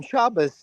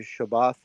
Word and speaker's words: Shabbat: Well, on Shabas, you or that's what my daughter would say because she's gone full Ashkanazi because she likes Benny Freriedman and Morai Shapiro. I think I talked with this about Grizz in our house like it's always been Shabbat or or Shabbath and uh but there's